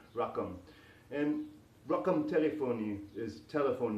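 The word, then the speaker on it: رقم: The word number in Arabic is rakam, like rakam sakam robots, but with a Q instead of a K, rakam.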